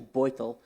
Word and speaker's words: Beutel: Spanish first name, German last name, pronounced actually Beutel.